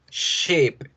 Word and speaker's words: ship: Sh, ship, ship, ship, ship.